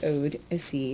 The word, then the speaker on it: Odyssey: And I'm not mispronouncing that. It actually is Odyssey, not Odyssey.